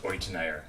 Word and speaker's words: Euteneier: Yeah, it's pronounced Euteneier.